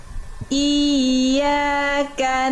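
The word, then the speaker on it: إِيَّاكَ: Jadi Bunda, naber itu dia penekanan yang lebih kuat pada pelafalan i-nya. Jadi bukan hanya iya, tapi i. Tengah lidahnya kan huruf ya itu kan. Nah, jadi dirasakan ditekan lagi ke atas.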